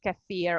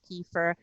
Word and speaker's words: kefir: I think I've realized that not many people are, big fans of something like kefir or kefir. There are different pronunciation, or about yeah, sour.